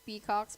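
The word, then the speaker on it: Pikakz: It's Peacocks, but if I read it, I'd be like so Filipino. It'd be Peacocks. But okay, so it's P-I-K-A-K-Z.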